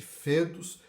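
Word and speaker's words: foedus: a liga tratado este que se chamou fetos escreve-se foedos mas pronuncia esse fetos Cassiano em 338 antes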